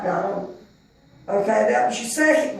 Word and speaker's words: Gihon: But then your second river is Gihon, or Gion, or Gihon. I said it right, Gihon.